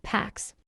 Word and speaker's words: P4X: He chooses P4X, pronounced PAX, a cheeky nod to enforcing peace through punishment.